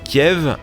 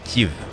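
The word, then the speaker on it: Kyiv: médias ou les journaux sont passés de Kiev à Kiev cette prononciation elle est en fait très militante la première est russe la seconde 100% ukrainienne mais pas plus loin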